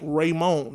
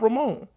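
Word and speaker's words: Raymone: is LeBron raymon James you say it like raymon not Ramon raymon he had to make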